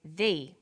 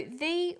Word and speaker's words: the: banana and the bananas there is a difference in pronunciation though when the comes before a vow sound we say the the apples so the before vow sounds and the before consonant sounds let's look at the